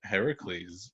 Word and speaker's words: Heracles: with classics actually uh it should be heracles it's like such a pointless thing to say wait whoa heracles is like is what is usually um seems like the most accurate uh pronunciation of the name oh so honey you